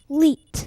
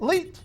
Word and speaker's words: Leite: Leite. Leite. No T. You don't pronounce the E.